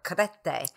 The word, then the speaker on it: Crete: And I was in Chania on Crete, or Krete is the proper way to say it.